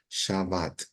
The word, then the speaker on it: shabat: con la letra ta esta bet se pronuncia como B corta porque no tiene No tiene el El puntito acá entonces shabat s shabat ya y shabat el